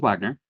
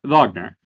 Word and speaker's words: Wagner: So, this is Wagner, not Vagner. This was the first lesson that I learned about this character. Uh, under Knight players are are correct. Um, I went and looked at the the actual pronunciation guide. It it's it's Wagner.